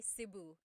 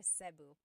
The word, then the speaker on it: Cebu: So, I say Cebu. Cebu. And I know some people say su, but usually it's either Cebu or Sebu.